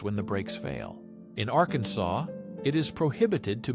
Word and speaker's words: Arkansas: In Arkansas, it is prohibited to mispronounce the state's name. It must be pronounced with a silent ending, like Arkansas.